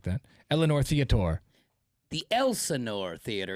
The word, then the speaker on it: Elsinore: I thought that was a silent S. Elsinore. Okay, I think. Elsinore. It is not silent. Okay, It is Elsinore.